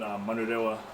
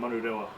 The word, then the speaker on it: Manurewa: Yeah, so we're both from South Auckland, Manurewa. That's how you say it. Say it again. So South Auckland, Manurewa.